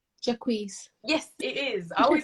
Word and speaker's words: Jacquees: Jacquees. Yes, it is. I always like, how do I pronounce it?